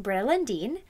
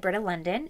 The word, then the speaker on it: Britta Lundin: of you don't know Britta Linden's name is pronounced Braille and Dean when I said her name in my most anticipated book video I said Britta London and I feel so silly now this is